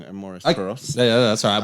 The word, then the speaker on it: Amores Perros: Amos Perros? In all honesty, yeah, I think I'm saying it wrong. Amores Perros.